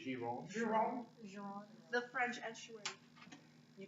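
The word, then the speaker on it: Gironde: It's French. So it'd be Giron.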